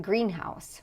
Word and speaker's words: greenhouse: And compound nouns have stress on the first syllable. And this is actually important because if we have a word like greenhouse, which is a kind